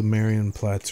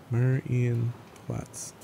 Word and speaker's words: Marienplatz: Like if I leave, it should only show Marienplatz or whatever the hell you call the... How do you pronounce that, James?